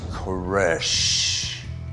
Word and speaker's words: Koresh: He said, my last name is like that last exhalation of breath, a death knell. It's Koresh.